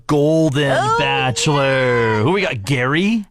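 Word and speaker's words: Gerry: Bachelor who we got Gary Gary spelled like Jerry but that's okay yeah g-e-r-r-y yeah yeah he's in his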